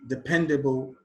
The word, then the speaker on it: dependable: Defensive, quality, dependable, indiscipline. Question 43. Defensive, the stress is on the second syllable. Quality, the stress is on the first syllable. Dependable, the stress is on the second syllable.